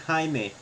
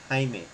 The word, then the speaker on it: Jaime: a big scary man his name is pronounced Jaime I know in Spanish but no no no Jaime not Jamie it's Jaime he doesn't like Jamie